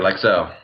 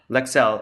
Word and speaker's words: Lexell: So, yeah, let's dig into the meat of today's discussion, which is, am I pronouncing it right? Is it Lexell? Yes, sir. Lexell. Lexell.